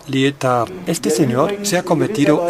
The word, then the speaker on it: Lietaer: Así se escribe y se pronuncia Lietaer.